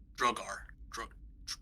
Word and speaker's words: Duergar: D-U-E-R-G-A-R. R-G-A-R. Drogar. Drugar? Yeah, Drugar. Oh, D-R-U-E? D-U-E-R-G-A-R. Duergar. That's how you say it.